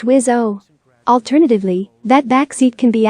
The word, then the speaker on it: WSO: The 2-seaters, technically known as the F-18F, can host a weapons systems officer in the backseat, abbreviation WSO, pronounced WIS-O.